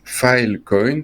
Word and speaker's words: Filecoin: comme une brique de bien le prononcer file coyne parce que sinon dans